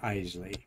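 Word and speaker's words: Eisele: one of the Apollo secretaries saying that it's pronounced eely there is the pad fur Gunter vent and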